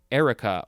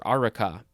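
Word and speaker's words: areca: basement now we have eureka a r e a-r-e-c-a could also be pronounced uh erica or araka this is a noun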